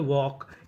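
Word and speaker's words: walk: जैसे डब्ल्यू एल के इसे पढ़ते हैं वॉक। यहां पे एल हमारा साइलेंट रहता है।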